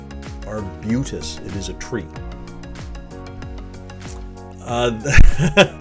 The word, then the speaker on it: arbutus: region here or bc i did hear an american client pronounce this as arbutus our buddhist a little while ago this is arbutus our butus it is a tree